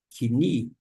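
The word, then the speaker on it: κοινή: Pois bem, o iota, ele vai sobressair na pronúncia, de modo que quando a gente lê no grego koine, esta palavra koine, no bizantino, a pronúncia vai ser kini.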